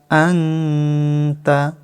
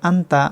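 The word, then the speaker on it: أنت: আনতা। নুন সাকিনের ইকফা বাংলায় অনুসারের মতো। আনতা। অনেকে বলেন আন্তা। আন্তা বললে ভুল হবে, সঠিক উচ্চারণ আনতা।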